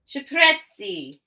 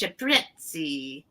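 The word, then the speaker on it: cipressi: The ciprezzi is how you say it in Italiano. It's ciprezzi.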